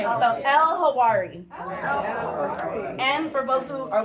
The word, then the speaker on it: Elhawary: It's like the H and the W in Hawaii. So, you know, just in case so we don't get that backwards. And then it rhymes with Ferrari.